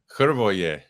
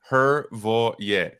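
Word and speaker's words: Hrvoje: Hervoye. I told you. Three syllables. Kind of like Hervoye.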